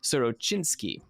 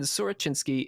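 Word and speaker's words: Sorochyntsi: Again, thanks to Catastrophe for sending me the correct pronunciations of these. Sorochinsky. And I feel extra pressure because Catastrophe is currently listening to me try to pronounce these things. He was born in Sorochinsky in Mirhorod, in the Poltava province.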